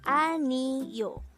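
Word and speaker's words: 아니요: Aniyo could be divided into 3 syllables. Aniyo. A is just the sound of A itself for the placeholder, while ni is the combination of the sounds of nian and I, and yo is just the sound of yo itself with a placeholder or no sound iyong at the beginning of the syllable.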